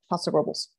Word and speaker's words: Paso Robles: or paso robles um as you are told to pronounce it if you are from paso robles really yes paso like ancient peaks uh wines you know we did the wine dinner with them so that's fossil rubbles robles cool that's how you